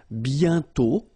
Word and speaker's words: bientôt: And then bientôt, Okay, remember you put this accent circonflexe but you don't write it. You write it but you don't pronounce it. And then the final T is not pronounced.